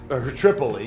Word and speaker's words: Tripoli: Tripoli, yes, yeah, the correct pronunciation.